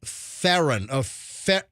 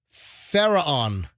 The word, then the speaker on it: Pharaon: It's a marriage therapist by the name of Vienna Ferran. Ferran. It's Pharaon. Pharaon.